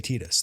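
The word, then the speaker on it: Tidus: straight up just say Titus. They just say Titus. They say it. They spell it out for you. They fucking tell you. And objectively, it's Titus because Tira. It's an Okinawan word.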